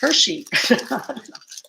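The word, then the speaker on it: Hirschi: is a it's spelled h-i-r-s-c-h-i that's kind of like hershey h-h-i-r-s-c-h-i it's called a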